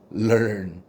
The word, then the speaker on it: learn: 자, 그래서 얘는 합치면은 발음을 이렇게 한다고 보면 돼요. learn.